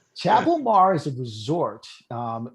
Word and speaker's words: Chabil Mar: it i'm trying to spell i'm trying to pronounce it like it's french you know what you just say it omar it's just chabilmar chapelmar is a resort um it's villas in belize